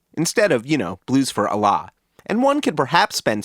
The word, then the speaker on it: Allah: Just as a pronunciation note, everybody in the Grateful Dead world seems to have pronounced, and for that matter, sung, the album's name as Blues for Allah, instead of, Blues for Allah.